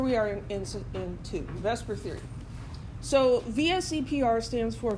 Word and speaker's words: VSEPR: is a mouthful and so even though it's not really pronounced you know you can't pronounce that but let me just say Vesper it's close enough that's per theory so